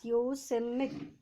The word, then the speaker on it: Yosemite: So the Yosemite Fall in California's Yosemite, pronounced as Yosemite, right?